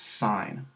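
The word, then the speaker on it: sine: let's start here um this you pronounce sign and F is going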